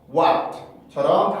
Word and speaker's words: white: 화이트가 아니라 화이트의 발음인데 강세가 R로 가야 돼요. 그래서 와의 소리의 느낌이 아니라 이런 식으로 발음을 해서 white처럼 발음을 해주셔야 됩니다.